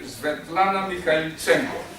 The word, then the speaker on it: Svetlana Mikhaylichenko: I'll ask our first speaker, Svetlana Mikhaylichenko.